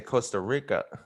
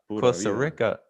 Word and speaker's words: Costa Rica: on the pod but the pronunciation of costa rica they don't roll their r's yeah no they don't they don't no they have like the little gringo accent when they say costa rica costa rica oh man